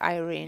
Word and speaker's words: Irene: sukanda who's playing right we've actually asked her how does she prefer her name to be pronounced and she said it to be irene yeah exactly no this